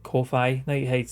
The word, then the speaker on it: Ko-fi: It is coffee, like, or buy me a coffee type of thing. But like, it looks like Ko-Fi.